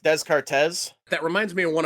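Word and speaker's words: Descartes: Dardis kind of thing I believe it's pronounced deszcz that reminds me of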